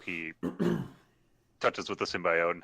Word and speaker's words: symbiote: I mean the Wicker the way they pronounced symbiote they call it symbiosis symbiote and it's really annoying to hear her talk but it's like it's symbiote stop saying it wrong but another another release